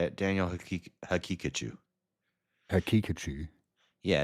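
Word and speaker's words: Haqiqatjou: Is there any chance at all that you're mispronouncing the Muslim guy's name? No, that's how you say it. Daniel Hakikachu.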